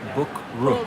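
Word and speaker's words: บุกรุก: I had the hard time pronouncing Bukrook.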